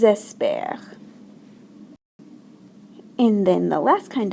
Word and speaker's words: espèrent: J'espère, tu espères, il espère, nous espérons, vous espérez, and then do we ever pronounce the ENT? The answer, of course, is no. So, elles espèrent.